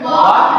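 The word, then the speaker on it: walk: ठीक इसी प्रकार डब्ल्यू ए एल के इसको क्या पढ़ेंगे, वाक पढ़ेंगे। वाक पढ़ेंगे तो यहाँ भी वही नियम लागू होता है, एल साइलेंट हो जाएगा।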